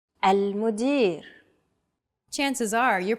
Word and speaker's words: المدير: المدير. المدير. Chances are your pronunciation was pretty spot on. The A, L, M, U, D, I, and R sounds are practically identical to English.